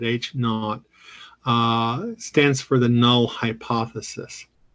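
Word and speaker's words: H₀: correct H naught this H Sub Zero we pronounce that H not stands for the null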